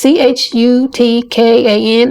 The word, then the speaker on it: Chutkan: Judge Tanya, I think it's called or pronounced Chutkan. It's Chutkan.